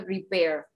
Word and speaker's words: repair: Bien, la pronunciación de repair. Repair. ¿Sí? Repair. Hace como una caídita.